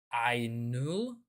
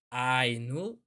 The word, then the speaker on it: Aenain: I think it should be I've been told by Riccaroni that it should be pronounced like Ainul. Well, Ainul, but I'm not gonna